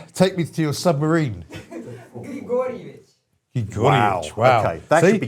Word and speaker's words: Grigorovich: But you have to say it like Richard Keyes used to say Abramovich. You have to say Grigorovich. Grigorovich.